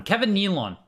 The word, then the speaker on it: Kevin Nealon: from and Kevin Nealon sorry I pronounced his name wrong the other time Kevin Nealon SNL alumni comedian so I'm sure a lot